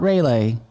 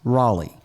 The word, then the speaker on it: Raleigh: the comments for reference it's not rayleigh it's raleigh to anyone i offended i'm